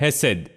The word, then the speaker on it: hesed: है, ये हिब्रू शब्द है, और ये है हेसेड। हेसेड, अगर इसके इंग्लिश में स्पेलिंग देखें तो ये है HESED, हेसेड।